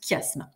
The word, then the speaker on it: chiasme: si on était tous ensemble donc ça se prononce chiasme c'est une figure de construction au lieu d'avoir